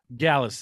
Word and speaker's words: Gyalis: What exactly is a Gyalis? Am I saying that right? Because yeah, now you're saying it right. Gyalis, somebody who's good with the gyal them.